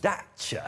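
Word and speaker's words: Dacia: ads they've been doing they keep referring to themselves as dater no I think that's because that's how you say it in Romania where it's built hey you know there's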